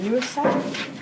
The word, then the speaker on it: Sachar: So the book I am book talking is called Holes by Sachar. I actually pronounced that right.